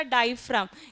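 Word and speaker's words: diaphragm: डायफ्राम। इसका spelling थोड़ा अलग है। डी आई ए पी एच आर ए जी एम हां जो जी है हां साइलेंट है।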